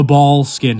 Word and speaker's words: Boleskine: I personally refer to this location by its true Scottish Gaelic pronunciation, the Boleskine House.